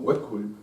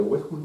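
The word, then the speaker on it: Uexküll: Jacob von Wexkull escribe U-E-X-K-U con 2 puntitos, doble L, es impronunciable. Mi conocimiento de lituano es menos que limitado, así que pronunciaré Wexkull, nada más.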